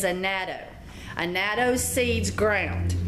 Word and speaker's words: annatto: It's called okay, so the American version of the way it's pronounced is annatto.